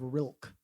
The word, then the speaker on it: Rilke: There's a poet by the name of Rilke, actually, is how I've heard it actually pronounced. Rikle, Rilke, right?